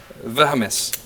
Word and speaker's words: valmis: Valmis. Valmis.